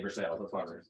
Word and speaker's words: Versailles: it's made in the Versailles um it's spelled for sign but the locals say for sale dude yes exactly um